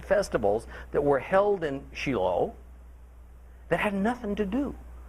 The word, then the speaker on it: Shiloh: We say Shiloh.